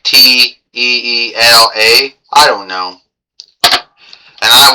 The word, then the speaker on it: Teela: I GUESS THAT'S TEELA, like it's spelled t e e l a. I guess it's Teela.